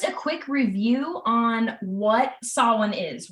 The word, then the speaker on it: Samhain: of year so um so Solon is and that is the current correct pronunciation um I I don't know if it's because I'm in the South I'm in Texas um I I always catch myself saying sowin um and so if